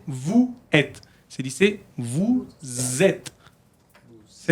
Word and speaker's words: vous êtes: Regarde, vous êtes ici là. Hay que hacer como una Z. No se dice vous êtes.